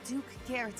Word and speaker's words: Garrett: What's up, Duke Girth?